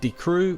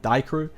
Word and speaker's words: Die Crew: taking a look at D crew which I believe is now how you pronounce it thank you to those in the last video that told me I was previously pronouncing it die crew and these guys are